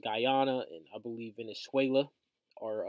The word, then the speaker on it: Guyana: Taiwan and and um guy I think it's pronounced Guyana and I believe Venezuela or uh at each